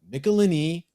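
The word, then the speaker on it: Michelinie: michelini now is it michelini is it michelini is it Mitchell line I was always taught from the Marvel Bullpen bulletins page that it's pronounced nicolini rhymes with tickle my knee that's what they wrote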